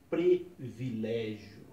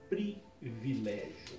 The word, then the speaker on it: privilégio: e não como então eu vi já pessoas dizerem preto villégier quando na verdade o correto é privilégio tome cuidado com essa